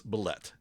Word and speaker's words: bulette: It's bulette is how you pronounce it.